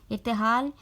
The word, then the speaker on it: ارتحال: واضح کر دیتی ہوں۔ ارتحال میں الف کے نیچے زیر، رے کے اوپر جزم، اور تے کے نیچے زیر، الف کے اوپر زبر اور لام کے اوپر جزم۔ ارتحال، شعار، شین کے نیچے